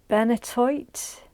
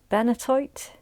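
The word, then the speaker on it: benitoite: you at this time is very difficult to pronounce apparently uh benatoite benatoite b-e-n-i-t-o-i-t-e and it says it's a very rare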